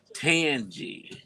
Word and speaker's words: Tangi: turn it up hey T Tangi is how you pronounce it her name yes hey